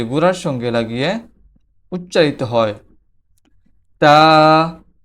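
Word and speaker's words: ت: তো তার মাখরাজ হচ্ছে জিহ্বার আগা সামনের উপরের দুই দাঁতের গোড়ার সঙ্গে লেগে তা উচ্চারিত হয়।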